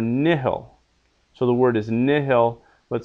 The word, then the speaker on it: nihil: so the word is nihil but sometimes it can be pronounced Neil just like you took out that h a vowel before another